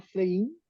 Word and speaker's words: Pflaeging: Eh, entiendo que lo más cercano podría ser Flegin, Flegin. Sí, está bien, está perfecto.